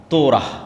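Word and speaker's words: תורה: যখন তাওরাত দেওয়া হলো তোরাহ বলে ইহুদিরা উচ্চারণ করে যে তোরা যখন তাওরাত দেওয়া হলো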